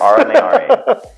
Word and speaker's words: Aura Mayari: All right, next up we have Aura Mayari. Am I pronouncing that correctly? Aura. See, you're here. You're checking me. Yes. Aura Mayari.